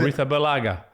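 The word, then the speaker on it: Arrizabalaga: Even Ariga Zabalaga. How do you pronounce it? Aretha Balaga.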